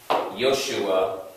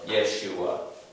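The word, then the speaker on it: ישוע: Still should be pronounced either Yeshua or Yeshua.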